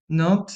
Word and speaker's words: Nantes: O Eto de Nantes, Nantes se pronuncia assim, né?